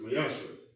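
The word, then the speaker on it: מעשר: It means 10th in Hebrew, and it's pronounced Mayasha.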